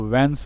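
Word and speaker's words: whence: इसको व्हेंस पढ़ते हैं, एच साइलेंट होता है।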